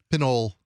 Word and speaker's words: Pinole: Could you please give us the proper pronunciation? Pinole.